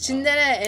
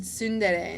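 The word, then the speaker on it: tsundere: That's how Koreans say it, but like it's Chindere in Korean and Sundere in Japanese.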